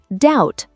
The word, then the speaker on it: doubt: Doubt, say doubt.